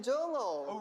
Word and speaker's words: Jongho: I'm Jongho.